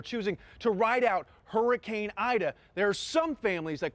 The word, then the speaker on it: Aida: be a rough one my name is ida a-i-d-a your name is ida but you pronounce it aida just like the storm that's what i do with ida ida and sid anderson